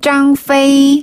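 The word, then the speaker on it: 张飞: 막내 챙겨야죠 유비관우 장비네 장비는 짱 페이 짱이 짱이 짱 페이 맞아요 잘하셨어요 어 짱이 근데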